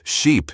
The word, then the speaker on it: sheep: Ship, sheep, she said, pronouncing the short I in ship with a clipped voice, then stretching out sheep with the long E.